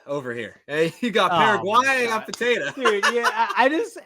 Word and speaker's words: Paraguay: It's Paraguay.